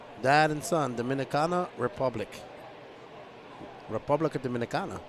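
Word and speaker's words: República Dominicana: Republica Dominicana, that's how you say it.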